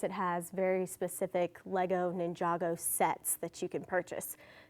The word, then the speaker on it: Ninjago: It's spelled like Ninjago Go, but don't be the person that says Ninjago Go. It's Ninjago.